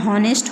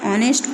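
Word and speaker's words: honest: में वो लोग इसको हॉनेस्ट पढ़ते हैं और हम लोग इसको हॉनेस्ट नहीं पढ़ेंगे, हम इसको ऑनेस्ट पढ़ेंगे। क्यों? Because H is silent here.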